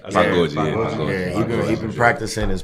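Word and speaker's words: pagode: Pagoji.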